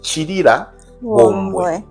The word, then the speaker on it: Chilabombwe: Chilabombwe stands for, it should be pronounced Chirira Bombwe. That should be how it's pronounced.